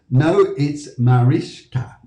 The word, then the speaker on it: Mariska: Say it here. It's Mariska. So we all know now. So Mariska, when you come back online again, thank you very much. We know how to say it's Mariska.